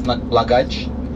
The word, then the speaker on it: Blagaj: the spelling for example the J is not pronounced as a J the J is pronounced as Y. Sarai the first destination is notaj yes so you